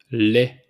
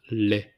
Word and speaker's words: lait: Milk, lait, lait. So we don't pronounce the T at the end, lait.